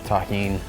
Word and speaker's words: Tajín: Shout out to everybody that knows the deliciousness of Tajín. That's how you pronounce this.